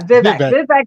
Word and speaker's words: Vivek: And you know, I have a real fun theory about Elon and Vivek. Is that it? Am I saying it right? Vivek? Vivek, yeah, Vivek. Vivek, Okay.